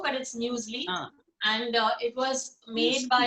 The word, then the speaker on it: muesli: People pronounce it as muesli also, but it's muesli.